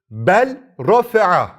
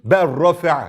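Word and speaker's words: بَل رَّ: diğer bir örneğe bakalım bel Raa dersin Normalde değil mi Öyle görünüyor çünkü ama sen artık kuralı biliyorsun Ne yapıyorsun lamı gizliyorsun ber şeklinde okuyorsun çok basit bir derstir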